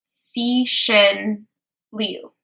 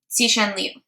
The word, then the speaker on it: Cixin Liu: X sounds kind of like S-H, it's like a sh. And then C sounds like T-S.